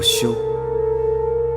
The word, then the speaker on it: 休: 这个字念作休，因为这份婚约，所以嫣然是我的妻子。